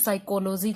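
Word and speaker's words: psychology: अगर मैं बात करती हूँ साइकोलॉजी की, तो यहाँ पर भी पहला अक्षर जो है आपका साइलेंट है।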